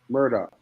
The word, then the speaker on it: Murdaugh: Murdoch.